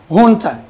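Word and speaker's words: junta: hun Hunter is pronounced Hunter so of course you see letter J there but it's not pronounce as J here Hunter Spanish origin the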